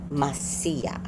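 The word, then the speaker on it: Mahasiah: Tomorrow's angel is the 5th angel, and according to the sources that I have, it's pronounced Messiah. Messiah. Sounds like Messiah.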